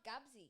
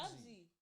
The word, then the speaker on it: Gatsby: movie, Like Wait, is it not Gabsy? It's it's Gabsy. Gatsby.